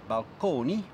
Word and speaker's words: balcony: to describe them so balcony still pronounced at that time in the Italian manner Balcones as well as Fresco Villa